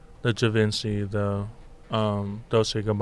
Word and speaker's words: Dolce: Dolce & Gabbana Jujutsu Kaisen collaboration. Probably. Dolce. I would assume. Dolce, it's DOLCE. DOLCHE.